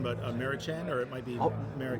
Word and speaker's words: Mariechen: Sure, and I apologize if I mispronounce her first name, but Mary Chen, or it might be Mary Chen. Yes. Yes. Marie Chen?